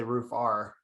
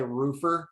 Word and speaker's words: Roofr: to remember the dot-com you could say roof r yeah i feel like people are gonna naturally say roofer and you can't fight how people actually say something you know i accept every pronunciation as the name if you like using products but